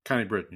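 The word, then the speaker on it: Connie Britton: Connie Britain.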